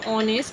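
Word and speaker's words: honest: এখানেও দেখো অনেস্ট, এটা আগেও বলেছিলাম তোমাদের, অনেস্ট এইচ দিয়ে দেখো এটা শুরু আমাদের, কিন্তু আমাদের ভায়েলের মতো উচ্চারণ হচ্ছে বলে অ্যান হয়েছে, আর এখানে নির্দিষ্ট করে বোঝানো হচ্ছে বলে দা।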